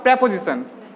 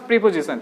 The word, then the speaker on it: preposition: तो that is called प्रेपोजिशन, इट्स नॉट प्रीपोजिशन, इट्स अ प्रेपोजिशन।